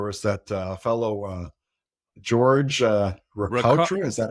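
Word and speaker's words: Ricaurte: This might have been around the around MDMA, where there was that fellow George Rica- Ricautra. Is that how you pronounce his name? Riccardi. Riccardi. Yeah, like I like like Bacardi, but not as fun, right?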